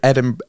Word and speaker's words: Edinburgh: Because they study at Edinburgh and then, am I pronouncing that right? Edinburgh.